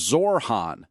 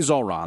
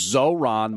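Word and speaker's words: Zohran: Now, Curtis Sliwa, let's be clear, he says it as Zorhan, if we're being accurate. He can't say Zoran, there's no question about that, but he'll say Zorhan. That's his mispronunciation.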